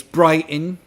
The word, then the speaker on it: Brighton: It's Brighton, where a team of drag queens intercepted them.